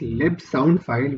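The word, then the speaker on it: libsndfile: supported through lib and its lib sound file which is spelled as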